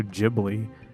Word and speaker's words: Ghibli: Kyle, I was going to give you a hard time and be like, who the fuck says Studio Ghibli? And then I looked it up, and that is how it's pronounced.